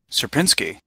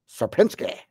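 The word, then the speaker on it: Sierpiński: triangle oh and here we have the correct pronunciation of serinsky here let's listen to that serinsky serinsky he says it with a little flare there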